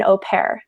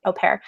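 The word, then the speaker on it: au pair: also for guys is you can become an opare and uh that's spelled a u space p a i r opare and that's a type of Nanny baby sitter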